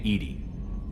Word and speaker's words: EDI: have a specific inquiry why are you named Edie Edie is the IC pronunciation of e di that is an acronym